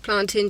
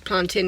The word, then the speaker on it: plantain: While I was in the queue, I got some chili plantain chips. My mum corrected me on how I pronounce it. It's plantain, not plantain.